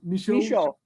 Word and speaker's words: Michaud: And how about the Michaud?